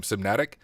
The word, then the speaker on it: CMNatic: First, is that how you pronounce the name, CMNatic? Yeah.